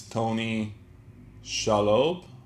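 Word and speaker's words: Tony Shalhoub: I think his name is Tony Shalob. That's how you pronounce it.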